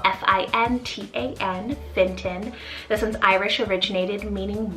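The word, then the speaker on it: Fintan: Another option here is the name Finton, spelled F-I-N-T-A-N, Finton.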